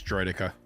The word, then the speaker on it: Droideka: It's Droideka. A lot of people get triggered when you say Droideka, apparently.